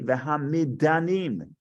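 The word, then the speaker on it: וְהַמִּדָנִים: Instead of midyanim, because there's no yud, they say v'hamidanim. It's actually I didn't realize this. It's actually pronounced different. V'hamidanim.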